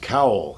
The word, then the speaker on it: Cowell: here great to have you uh the uss cowell am i saying it right yes okay dd 547.